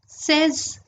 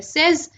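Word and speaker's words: seize: अगला है 16, जिसको हम बोलते हैं सेज।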